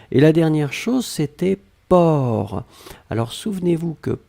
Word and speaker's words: porc: même pas nécessaire et la dernière chose c'était port alors souvenez-vous que port on ne prononce pas le ces finales d'accord mais on